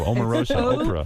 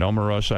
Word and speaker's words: Omarosa: Omarosa, Oprah. Yeah, right. It's a hard O, same as you.